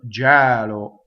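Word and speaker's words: gelo: But now we have Gɛlo. There are a lot of verbs that do that. When the infinitive, the E is in the unstressed position. When you conjugate it, I shake. Gɛlo.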